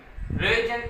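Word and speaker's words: Röntgen: रोइजन, इसमें टी जो है वो हमारी क्या है? साइलेंट है।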